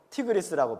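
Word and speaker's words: 힛데겔: 첫째는 비손, 둘째는 기혼, 셋째는 hit데겔. 이 hit데겔 중에서 이걸 영어식으로 발음할 때는 앞에 H가 묵음 처리돼 가지고 티그리스라고 발음이 됩니다.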